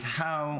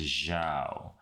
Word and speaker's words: Zhao: That was How or Zhao. I said it wrong. It's Zhao. We were going over some of the stuff that he's doing for a freelancing gig.